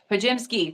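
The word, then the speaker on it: Podziemski: Pojemski, that's it. They've just said his name and I've just heard it.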